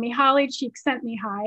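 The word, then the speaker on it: Mihaly Csikszentmihalyi: amazing book called flow by this psychologist you pronounce his name mihaly cheek sent me high his name is on the screen and he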